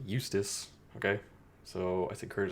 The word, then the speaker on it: Eustace: Houston Houston Houston Houston Eustis but no it's pronounced to Eustace okay so I think